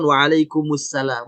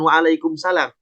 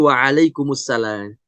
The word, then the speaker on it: waalaikumsalam: Karena kalau dituliskan waalaikum kemudian assalamnya itu ada alif lam, berarti alif lam syamsiah. Sehingga disempurnakan waalaikumsalam, bukan waalaikumsalam. Ya, tapi waalaikumsalam.